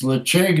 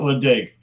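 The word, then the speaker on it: Ledaig: It's Lecheg, not Ledeg.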